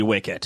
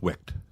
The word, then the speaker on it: Wicked: he's selling Wicket journals, and my daughter loves the movie Wicket. I believe it's pronounced Wicked.